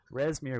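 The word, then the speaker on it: Rezmir: He's like, actually, Resmir was preparing these for an omelet, and so we're gonna go prepare them for.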